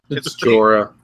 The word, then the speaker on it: Jorah: Jorah. Jorah. It's J E O R, I believe, is his name. Jorah. They pronounce it Jorah.